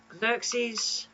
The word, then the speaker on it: Xerxes: the name of the last pharaoh of Egypt Xerxes ramsy Cleopatra or Tuton I love that this